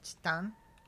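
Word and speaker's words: チタン: Did you know that titanium in Japanese is chitan? Like, phonetically identical to that one mascot? Yeah. I mean, like, you could say chitanium, but it's like, typically you would hear it literally as just chitan.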